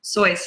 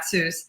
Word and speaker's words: Seuss: sois remember his name his name is actually pronounced soit's not Seuss just released a new book named horse Museum